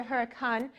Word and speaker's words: Hurricane: facts about this city is the locals pronounce the huracan which is different than what i said so that's why i